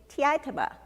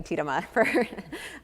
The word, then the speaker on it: Tiitama: So it's Jenny Tiitama for anyone who has their name mispronounced by Alexa on an ongoing basis.